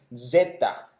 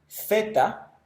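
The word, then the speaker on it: ζῆτα: Zeta. Luego tenemos eta, que es como un sonido de una E larga combinada con una I, eta. Luego tenemos zeta, su pronunciación es equivalente a la Z española, zeta.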